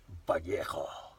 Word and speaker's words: Vallejo: I also had a city named after me, the city of Vallejo, which you officially mispronounce today, vallejo.